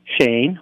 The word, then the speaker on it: Cheyne: are blessed to have us with us Shane which is pronounced machine who sure is going to show